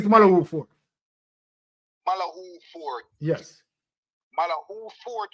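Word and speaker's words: Malahoo Forte: Malafort Fort. Yes. Fort was the justice. Malahu. Her name is Malahu Fort.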